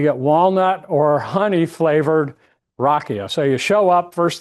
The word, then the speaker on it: rakija: J's in Croatian are Y, pronounced Y, so it's rakia.